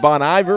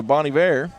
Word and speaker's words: Bon Iver: Bon a or Bon you know I said Bon Iver but I don't before but I think I was corrected to Bonnie ver is how you say either way I think